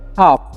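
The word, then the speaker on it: half: इसे पढ़ेंगे हम लोग इसे पढ़ेंगे हम लोग हाफ क्या पढ़ेंगे हाफ पढ़ेंगे यहां पर ए साइलेंट है ठीक है हाफ नहीं पढ़ना है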